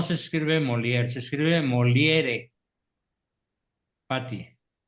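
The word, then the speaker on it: Molière: No, no se escribe molier, se escribe moliere. Pati, como es francés, la re final no se pronuncia, es molier.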